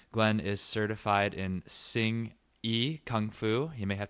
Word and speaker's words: Hsing-I: First of all, how did I do with the pronunciation there of your specific style of Kung Fu? Is that right? That's right, Hsing-I.